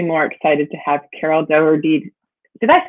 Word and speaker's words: Dougherty: So I could not be more excited to have Carol Dougherty. Did I say that right, Dougherty? It's close enough. Okay. The family pronounces it Dougherty, but Dougherty.